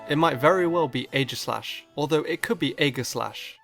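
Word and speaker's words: Aegislash: The most common pronunciation I've heard is a slash, which is how I pronounce it, but I've also heard it being pronounced a glash. If we split the name up, we have slash and this word. How does one pronounce this? Well, I have heard the combo of ae make the a sound.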